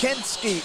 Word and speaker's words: Kensky: Said, "You didn't say my name right. It's Kensky. It's Kensky."